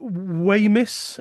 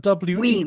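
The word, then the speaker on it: Wemyss: the Earl of Weymouth, is that how you pronounce that? Weems, Weems, Weems, beg your pardon.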